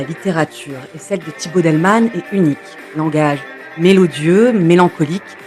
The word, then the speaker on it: Daelman: Thibault Delman, ça ne s'écrit pas comme ça se prononce, il y a un piège, un A avant le E. Delman, littéralement homme de la